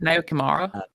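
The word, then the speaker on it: Naoyo Kimura: Nayo Kimura.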